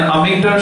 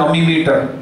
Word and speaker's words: ammeter: have 0 resistance, अच्छा कुछ बच्चे गलत प्रोनाउंस करते, बोलते हैं अमीमीटर, तो गलत प्रोनाउंसिएशन नहीं करना है हमको, अमीमीटर कुछ भी नहीं होता, यह है अमीटर।